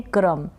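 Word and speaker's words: crumb: होता है उसको हम इंग्लिश में कहते हैं क्रम। इंग्लिश में क्या कहेंगे? क्रम, उस चूरे को। फिर ये है लिम, इसको लिम प्रोनाउंस करेंगे।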